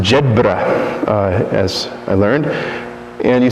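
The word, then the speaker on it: Jedburgh: I was residing at Immaculate Conception not in jedberg but it's pronounced Jed uh as I learned and you see way back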